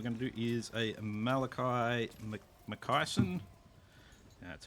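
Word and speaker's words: Malakai Makaisson: So this campaign we're going to do is a Malakai McKyson.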